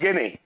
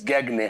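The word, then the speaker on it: Gagné: होगा आपने, Robert mills गेने, अमेरिकन दार्शनिक मनोवैज्ञानिक। इनका पूरा नाम है बेटा रॉबर्ट मिल्स गैगने। हाँ, या गेने या गैगने कहते हैं, जैसा वहां लिखा हुआ है, जी साइलेंट पढ़ा जाता है।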